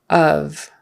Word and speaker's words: of: you in the stomach so of not of not off um because o f f off is the opposite of on both have a short o sound ah on off like the color Olive um but of is not really an o sound it's more like a u a short U of the C that